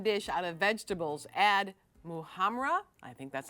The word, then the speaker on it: muhammara: First, how do you pronounce that? Muhamm.